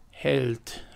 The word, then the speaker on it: Held: And speaking of supposedly smart or witty naming conventions, that is the German word Held, which is, barring my poor pronunciation of that, the German word for hero.